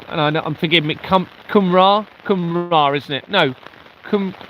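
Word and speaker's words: Cymru: And I I'm forgiving me Kumra. Kumra, isn't it? No, Kum Kum. I think it's Kumra, isn't it? I don't know how you pronounce it.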